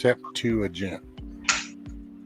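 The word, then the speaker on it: Septuagint: never i've ever known so it's pronounced sep to agent i was close i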